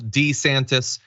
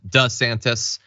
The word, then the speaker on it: DeSantis: see it in video he used to call himself D santis now he calls himself does santis why exactly is he